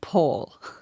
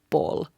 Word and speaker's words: pol: So sorry for disappointing you, but he's not calling Paul. He's saying Pol, P-O-L in Finnish.